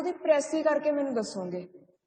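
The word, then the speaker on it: précis: Okay बेटा, so today we are going to discuss प्रेसी writing. First सब तो पहली चीज प्रेसी है वर्ड, एस जो साइलेंट होंगे आप एस प्रोनाउंस नहीं करना राइट। सो यू से प्रेसी, प्रेसी राइटिंग।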